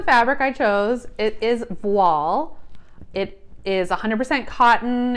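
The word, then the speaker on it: voile: silks and rayon gauze vol or voil depending on how you learn to pronounce it double georgette so i picked wall it has a little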